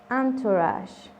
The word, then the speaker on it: entourage: Nótese aquí una excepción en la pronunciación de la vocal E, suena como una A.